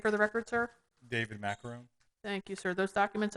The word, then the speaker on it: Maccarone: it's like- It's macaron. But I like I thought you were going to macaroni. get like a macaroni.